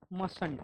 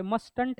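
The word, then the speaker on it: mustn't: Form मस्ट नॉट का मसंट, क्या होता है, मसंट होता है। और जो पहला सिलेबल है ना, फर्स्ट टी इज साइलेंट, यहाँ पे मस्टंट है क्या, ये नहीं, मसंट, मस्ट नॉट मसंट, ये आपको ध्यान रखना है।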